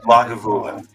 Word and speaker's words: Lagavulin: Lagavulin.